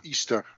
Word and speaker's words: Ishtar: Dat staat die poort van Ishtar. Ja. Of Easter, zoals we eigenlijk zouden moeten zeggen. Ja. Ja. Ishtar wordt het geschreven, hè? Ishtar. Ja. Maar het wordt Easter uitgesproken.